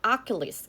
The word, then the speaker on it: Achilles: 자, 원래 우리는 아킬레우스 이러잖아요. 영어에서는 Achilles 이렇게 발음을 하는 거예요.